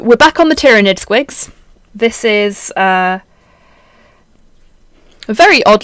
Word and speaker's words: squig: I mean, it's spelt S-Q-I-G, but it still says squig.